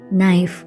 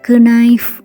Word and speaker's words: knife: நீ, நைஃப். ஸோ இந்த வேர்டில் ஸ்டார்டிங்கில் கே லெட்டர் இருக்குது, ஆனால் நம்ம அதை ப்ரொனவுன்ஸ் பண்ணும்போது கே லெட்டரோட சவுண்டை ப்ரொனவுன்ஸ் பண்ணுறதில்ல.